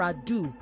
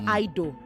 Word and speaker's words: ado: I'd like to start by saying that it is without further ado, not Ido. Ado is spelled A-D-O. Okay? So it is without further ado. I'd also like to point